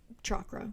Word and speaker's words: chakra: this point but yeah it is pronounced chakra with a CH okay um anyways some